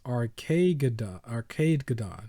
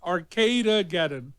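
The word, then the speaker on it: Arcadegeddon: So it's Arcadegadon, something like that, right? Did I say it right? Arcade. So like Armageddon, but I can't say it right.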